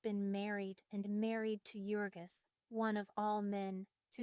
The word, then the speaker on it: Jurgis: One pronounced Jurgis.